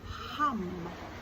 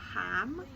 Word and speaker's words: HAM: Well, this one is hum. H A M. Yes, I know it's spelled ham, but you actually say it almost like H, but H. So, it's not ham.